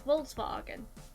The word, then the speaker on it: Volkswagen: Because a W is pronounced as a V in German. It's Volkswagen.